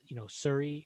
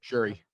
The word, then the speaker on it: Shuri: The movie has, Suri is one of my favorite MCU characters. There's just, is it Suri? Did I pronounce Shuri. Shuri? Let me say that again.